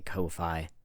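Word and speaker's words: Ko-fi: I'm not sure how you pronounce it. I I say Kofi because it's an O, not an A.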